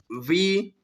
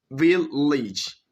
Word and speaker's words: village: So this one here, so they're going to make it like village, village, village.